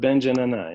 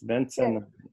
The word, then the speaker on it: Bence Nanay: Yeah, we heard that your name is pronounced like Bence Nanay, but right? Is that true? It's not Bence Nanay, no, it's Bence Nanay.